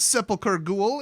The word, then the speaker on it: Sepulcher Ghoul: Next up we got Sepulcher Ghoul. It's a 2-cost 2/1. Yes, that is how you pronounce it.